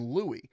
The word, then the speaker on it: Louis: L O U I S, but we we call him Louie. Well, I found out that did you know that you can pronounce L O U I S as Louie also?